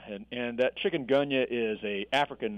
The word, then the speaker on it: chikungunya: how do you say the name of it Chikungunya and and that chicken gunha is a African name it comes from the